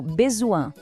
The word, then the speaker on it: besoin: A palavra besoin tem um som nasal, o on, que é um pequeno desafio. Pense em algo como besoin.